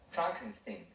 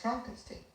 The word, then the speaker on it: Frankenstein: favorite movies growing up Frankenstein you're putting me on no it's pronounced Frankenstein yeah it's wh time